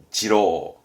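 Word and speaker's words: 次郎: 그럼 둘째 아들은 요렇게 쓰는데 발음은 지로입니다. 지로. 이 지로는 두이자 쓰기도 하지만 이 차자 써가지고 말하자면 둘째 아들의 차남 할 때 차자 써가지고 지로 쓰기도 합니다.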